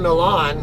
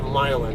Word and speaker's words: Milan: i delivered in milan i know you guys call them milan but there's no damn way i'm gonna pronounce that milon that's that's stupid american way sorry uh i'm not trying to be uh an ass or anything but that's not that's not a linguistically accurate way to call it at